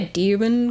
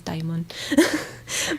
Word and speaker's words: DXMON: They have like a demon concept, so you would think it's called Demon, but no, I think it's DXMON.